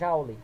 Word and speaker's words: Joule: de efeito jaule aqui o nome vem Joule mas nós pronunciamos auley tá bom E esse